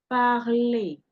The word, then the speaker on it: parler: You see that the first parler here ends with ER. Parler. And the R is not pronounced in this case, even though the Frenchman doesn't drop his R.